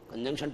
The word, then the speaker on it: conjunction: और बच्चों आप लोग इसे बोलते हो कंजक्शन। कंजक्शन नहीं होता, ये होता कन, फिर बोलना पड़ेगा जंग, कंजंक्शन।